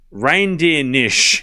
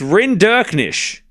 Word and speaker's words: Rinderknech: It's pronounced reindeer-nish. No, it's not. It's Rinderknech. Love 15.